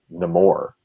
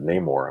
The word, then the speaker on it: Namor: what i mean um kevin smith still says still says no more instead of namor i'm like dude stop